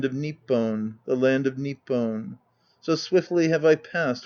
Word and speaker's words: Nippon: in the east called nippon note the fact that haku is a foreigner is conventionally emphasized by his pronunciation of this word the fisherman when using the same word later on called it nihon endnote now at my